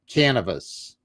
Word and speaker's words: Canavos: It rhymes with cannabis, but with a V. So cannabis. Well, there you go. I did not know that. So it's Kathleen O'Keefe Canavos.